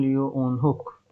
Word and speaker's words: Leeuwenhoek: Living cell देखा उनका नाम है एंटोन वॉन लियो वॉन हुक। स्पेलिंग थोड़ा सा टेंशन देता है, LEE लियो वॉन हुक। एक सेकंड, गड़बड़ हो गया है, ये गड़बड़ हो गया है। LEEUWENHOEK एंटोन वॉन लियो ओन हुक, ठीक है।